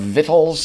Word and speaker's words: victuals: Richard says the origin of victuals is the Latin word victus, which doesn't do anything to explain why people pronounce it victuals.